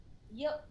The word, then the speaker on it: Yildirim: Litamir? Yildirim.